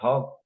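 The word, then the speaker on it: حقّ: That's why instead of saying haqq, I said haqq, because of the fact that there is shadda.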